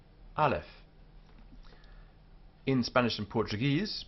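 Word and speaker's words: אלף: first letter this one Alf pronounced as a clear a sound Alf in Spanish and Portuguese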